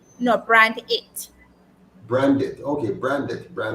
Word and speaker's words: Brand8: So I was just pronouncing it so that persons can hear the name So is properly. it brand aid? No, Brand8.